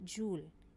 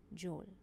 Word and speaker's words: joule: it's pronounced as J Joule and not as Joel so we will be